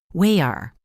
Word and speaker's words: water: The t is replaced by a tiny pause. Wayer. It sounds like the word is broken in two.